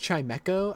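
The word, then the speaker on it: Chimecho: It's pronounced chimeco.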